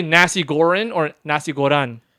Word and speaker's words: nasi goreng: say You're can I get a saying nasi Goran. goreng? You're Can I saying get- Goran can- wrong, by the way. I'm gonna. How do you say it? You say it then. Nasi Goreng.